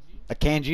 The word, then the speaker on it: Akanji: I have Akunje. Akanji. Yep, that's how you say it.